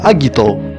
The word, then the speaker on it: Agito: dari aksara Yunani kuno Meskipun demikian serial ini tetap disebut Agito tanpa pengucapan yang bervariasi layaknya serial lainnya Agito